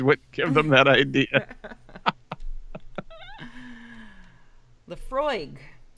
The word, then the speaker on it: Laphroaig: Laprohaig. Oh, wait.